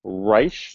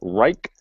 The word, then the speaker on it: Reich: from what I understand it is pronounced rice not Reich straighten it as yet